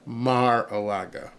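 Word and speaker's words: Mar-a-Lago: got in trouble for saying it's not marilo Maraga somebody actually emailed me and said say it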